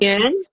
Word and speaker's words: 园: kekecilannya 坐 Oh, cuo, 到 tao, 公 uh, 园 Hong Yuan, 公园园 bacanya 园 Yuan, ya Yuan, 站 Chan.